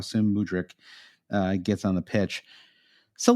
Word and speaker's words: Mudryk: Mudryk. Yeah, is that how you say his name? Mudryk. Yeah, how soon Mudryk gets on the pitch.